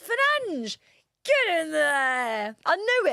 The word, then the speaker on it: Fernandes: No, it is Fernandes. That's how you pronounce it in Portuguese.